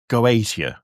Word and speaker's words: Goetia: So the goetic spell stuff is interesting because I need to double check the pronunciation of this. So Goetia, that's it.